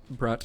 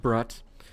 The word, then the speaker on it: Brut: Brat, I think it's pronounced Brat.